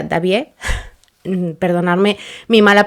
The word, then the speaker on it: Daviet: Se escribe Daviet, creo que se pronuncia Davier, perdonarme mi mala pronunciación de los idiomas y sobre todo en este caso del francés.